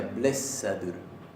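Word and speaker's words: blessaður: La doble S acá se pronuncia blessadur.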